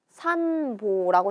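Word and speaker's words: 散歩: 호라는 애 앞에 음이라는 발음이 오면 호에 뭐가 붙는다? 반타금이 붙는다. 그래서 얘는 산보라고 읽게 됩니다.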